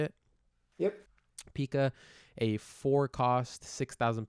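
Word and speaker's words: Pica: I agree I want to move on to Pika is that how you say it yep Pika a four cost six thousand power uh donkey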